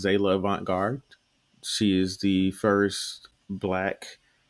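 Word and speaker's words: Zaila Avant-garde: highlight um i think her name is um pronounced zela avant-garde she is the first black national champion and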